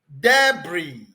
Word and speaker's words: debris: This is pronounced as debris. Debris. Debris. Debris. That is how to pronounce that word. This is pronounced as debris, not debris. Debris. Debris. Debris. The S there is so silent.